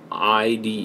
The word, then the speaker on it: IDE: Flipside says it's pronounced IDE in quotes like the word died.